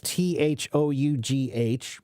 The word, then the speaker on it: though: And so that's why we still spell it as THOUGH, but now we pronounce it as just though.